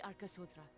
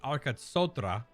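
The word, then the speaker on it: Arkasodara: the Gajasura and the Arkasodra. So they don't pronounce the Dara, or at least she didn't. The Arkatsotra. So that Dara is just Dra.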